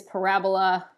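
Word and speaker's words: parabolae: latin parabola which is pronounced like the word i at the end even though it's a e is called a diphthong it's two vowels that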